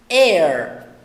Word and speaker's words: heir: Então, nesses dois casos, o H é mudo.